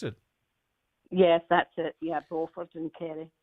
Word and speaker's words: Beaufort: Is that how you pronounce it? Yes, that's it. Yeah, Beaufort in Kerry.